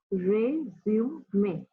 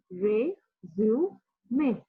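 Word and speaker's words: résumé: कुछ लोग बोलते हैं resume, but the actual pronunciation is resume. Last में एक हल्का सा ह है, okay? It's resume.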